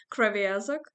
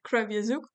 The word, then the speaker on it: Kreviazuk: singer songwriter Shantel kazuk if we pronounce it in Ukrainian but I heard that a lot of people usually pronounce your surname like crra asak but here I'll say it krauk so hello Chantel I